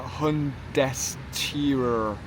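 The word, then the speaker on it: Hundesteuer: It's called the uh hundurer.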